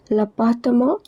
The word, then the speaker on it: appartement: L'appartement, M-E-N-T, is pronounced as mo, and it is a masculine word meaning apartment.